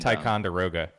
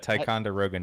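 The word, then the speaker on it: Ticonderoga: I literally have no idea how to pronounce the town. Uh, Ernest and Ticeroga. Tyicoga. Taekwond. What? Taekwondo. Ticeroga. It's a Tyonderoga, New York.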